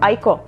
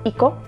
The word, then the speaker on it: Aiko: A já sama jsem je nesprávně vyslovovala jako Aiko. Toto jméno se opravdu čte jako Iko, jelikož pochází z japonštiny.